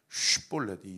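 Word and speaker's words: 쉽볼렛: 근데 어떻든 뜻이 중요한게 아니라 발음이 슈볼렛이 영어 발음으로 S를 길게 한 그 발음으로 발음을 하면 문화세 지파 동편 지역의 발음이고 볼넷 영어로 작은으로 발음을 하면 서편 땅의 발음인 거예요.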